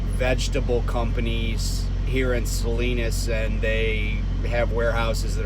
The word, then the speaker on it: Salinas: and by the way i said that right salinas not salinas i i um i